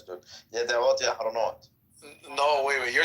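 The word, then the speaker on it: ידיעות: It's not Yediot. It's Yed'ot. Yeah, you gotta get the ayin.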